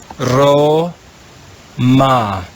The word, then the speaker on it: Roma: consonant er and we'll read this latin word ro ma when we put those two syllables together we have the word roma roma now that you know how to read